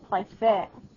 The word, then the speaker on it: préfère: On this verb, the accent aigu on the second E becomes an accent grave. It does change its pronunciation from préférer to préfère.